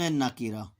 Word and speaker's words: نکرہ: ادا کر رہا ہوں۔ اسم معرفہ، اسم نکرہ، کاف کے نیچے زیر آ جائے گی۔ معرفہ، دیکھیں اب یہاں